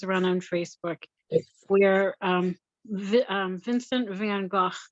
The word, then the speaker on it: Van Gogh: on Facebook where Vincent van Gogh, his name is pronounced Van Gogh, is awakened, in the 20th or 21st century, whichever one we're in.